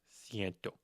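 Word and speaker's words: ciento: 101 and every other 100's number is no longer going to be cen. Instead, we use sento. Sento.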